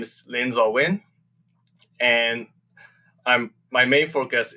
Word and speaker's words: Linn Zaw Win: know me or who don't know how to pronounce my name my name is lindsay wynn and i'm my main focus is working on